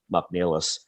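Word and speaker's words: Mac Niallais: So when you see it that way, you understand why it should be pronounced Mcneilless.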